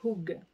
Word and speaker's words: hygge: Alors, ça s'écrit Idj, mais ça se dit Hug.